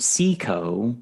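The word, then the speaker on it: SICO: It's pronounced Seiko.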